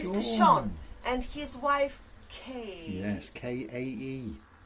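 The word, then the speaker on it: Kae: Sean and his wife Kay. Yes, K-A-E. Not K-A-Y. K-A-E. This is how you pronounce Yes.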